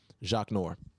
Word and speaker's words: Zsaknor: all my z-s-a-k-n-o-r I'm gonna spell it one more time Zsa k n o r Jacques Noir all right uh follow the feedback Bak on